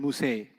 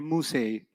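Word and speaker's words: موسى: Musa will always be non-flexible. Musay. You haven't heard Musi, you've heard Musay. That's a qira'ah difference. It's a pronunciation difference, not a grammar difference.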